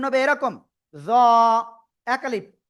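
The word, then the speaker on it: ظ: এই অক্ষরটা আপনার মোটা আওয়াজে উচ্চারণ করতে হবে। উচ্চারণ হবে এরকম, জ এক আলিফ, জ জ, ঠিক আছে, জ জ, সবাই একসাথে জোরে জোরে বলেন, জ ওকে।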